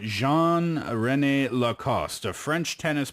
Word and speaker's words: Jean: his name before as Gan but of course a French name would be pronounced Jean right Jean Rene lacost a French